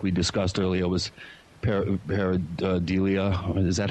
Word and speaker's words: pareidolia: I thought maybe, like we discussed earlier, it was pareidolia.